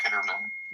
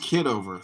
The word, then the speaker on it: Kitover: He's right at the election ballot with his family voting for John Kitterman. That's weird. It's pronounced Kitover.